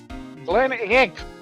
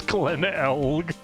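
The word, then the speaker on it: Glen Elg: Glenn Egg. He was a computer programmer. It's Glenn Elg.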